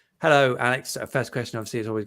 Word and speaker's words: Alex: So, and then I've just always liked the idea of calling him Alec, and that generally that is probably how Alex tends to be pronounced in Scotland.